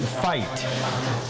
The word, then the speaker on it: Veit: So this is his name, and we pronounce it Veit.